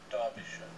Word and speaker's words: Derbyshire: Derbyshire. Derbyshire. So I thought I'd make a song to help us learn how to say Derbyshire. If you say Derbyshire, you won't be hired, we don't like your stupid kind.